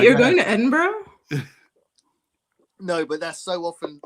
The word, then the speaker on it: Edinburgh: to Edinburgh? No, but that's so often mispronounced by Americans.